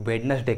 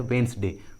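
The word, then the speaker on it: Wednesday: उसी तरह वेंसडे, वेंसडे, इस इंग्लिश वर्ड को भी बहुत सारे लोग वेडनेसडे कहते हैं, वेडनेसडे विच इज़ इनकरेक्ट, इसका सही उच्चारण होता है वेंसडे, वेंसडे, यहाँ पर डी साइलेंट होता है, डी का उच्चारण नहीं किया जाता।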